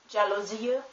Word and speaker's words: jalousie: But in some foreign words, especially of French origin, it's pronounced like the G in giraffe. For example, the word jalousie, which means blinds.